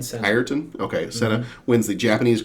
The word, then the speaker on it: Ayrton: Ayrton Senna. Ayrton?